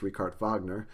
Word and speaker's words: Richard Wagner: last chapter in the Romantic Period is on rard Vagner a uh I know it looks like Richard Wagner but it's pronounced rard Vagner uh is a German opera composer and um